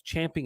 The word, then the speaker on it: champing: of you who said chomping at the bit it's not chomping at the bit it's champing at the bit you're saying it wrong you've been saying it wrong for 50 years we need to